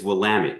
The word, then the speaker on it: Willamette: it's he says it's like darn it, damn it. I can say damn it. Well, it's Willamette. It's Willamette. Willamette.